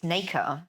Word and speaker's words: Naker: uh, r e, or in French, it's pronounced la nac. Um, and in English, it's Naica.